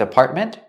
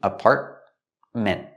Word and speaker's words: apartment: Again, with apartment, you have the T in the middle, is a stop T, apartment. And at the end, you can pronounce the T and say ment, apartment, or make it a stop T too and say apartment. Both are correct.